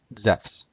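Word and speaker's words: Ζευς: And Zeus would be pronounced Zephs.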